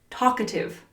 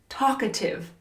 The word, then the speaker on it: talkative: Number 73, talkative. Talkative. Talkative. Notice how the L is silent.